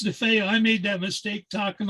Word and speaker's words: DeFeo: And we look at the name and it's spelled like it would be Defoe, but it's DeFeo is his Oh, name.